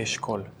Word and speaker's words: Eshkol: How do you say eshkol?